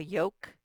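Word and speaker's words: yolk: thumb and then okay lk at the end of a word i already showed it to you um the lk makes the k sound so here's a yoke that yellow part is the yoke the l does not sound okay so there's your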